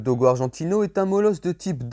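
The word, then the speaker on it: dogo argentino: argentine au parti croire le dogue argentin prononcé en espagnol dogo argentine au est un molosse de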